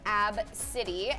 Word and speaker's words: ABCDE: ABCDE yeah that's how you spell it it's pronounced AB City and she was recently shamed online from not